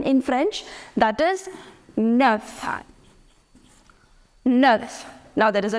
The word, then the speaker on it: neuf: That is neuf.